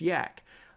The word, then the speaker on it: yacc: another compiler compiler yacc it's pronounced Yak like the animal yak and so uh programmers